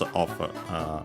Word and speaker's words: を: So yeah, even this one. But yeah, after that we have the object particle o, written as wo, pronounced as such in careful speech and also singing.